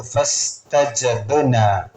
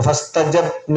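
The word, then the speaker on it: فَاسْتَجَبْنَا: അപ്പൊ ഫസ്തജബ്ന എന്ന് ഓതാൻ പാടില്ല. ഫസ്തജബ്ന എന്നല്ല, ഫസ്തജബ്ന. ബ് ബ് ബ ബ്. ഖുതുബുജ്ജദിന് സുക്കൂന് വന്നാൽ ആ അക്ഷരം നല്ല വെളിവാക്കി തന്നെ ഉച്ചരിക്കണം. അപ്പൊ ഫസ്തജബ്ന എന്ന് ഓതാൻ പാടില്ല.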